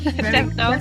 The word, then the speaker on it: Devonald: I have Emily, let me see if I can pronounce this correctly, Devonald? No? Yeah, correct. Devonald, you did it really well.